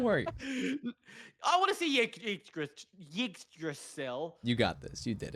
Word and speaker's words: Yggdrasil: It's Yggdrasil.